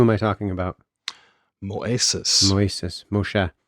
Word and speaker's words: Moshe: Moshe. Moshe. Sorry. I was using the Greek I pronunciation.